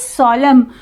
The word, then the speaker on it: solemn: Then is solemn. Here N is silent, and then benign.